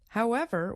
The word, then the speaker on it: however: When we use it this way, we stress the second part of the word, ever. For example, however will I choose?